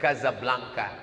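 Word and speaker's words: Casablanca: dua ibukota kerajaan Maroko tulisannya jasa belanja cara membacanya Gaza Blanca Kaza artinya rumah Blanca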